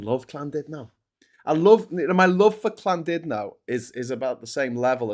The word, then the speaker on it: Llandudno: Yeah, Llandudno. I mean, that would be boss. I would pub crawl along the pastel-coloured promenade. I fucking love Llandudno. My love for Llandudno is about the same level as my hatred for Blackpool.